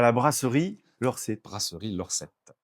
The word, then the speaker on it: L'Orset: Euh, exactement entre le garage Peugeot et la salle gymnasia à la brasserie Lorsette. Brasserie Lorsette. Lors 7, c'est de l'occient donc on va prononcer et bien sûr, on le prononce correctement.